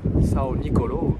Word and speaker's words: São Nicolau: Bon, nous sommes à Tarrafal sur l'île de São Nicolau, São Nicolau si on veut le prononcer à la française.